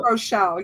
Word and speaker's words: Rochelle: Is that how you say it? Rochelle, yes. Yeah.